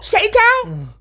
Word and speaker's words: Sheng Thao: That is her name, Sheng Thao. I know the way you're saying it. You're going to mess around and say something wrong. Sheng Thao? Now you're saying it right.